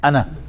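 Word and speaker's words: أنا: You know, it is written as Ana, but read as Ana. Alif is not pronounced.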